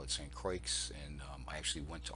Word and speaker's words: St. Croix: Croix spanish-speakers pronounced the X the way English pronounces ax so we call it st. Croix and I actually went to all of these locations when we get to st.